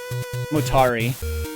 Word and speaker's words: Motari: I'm butchering it motari it's like Atari but with more MO kig with an M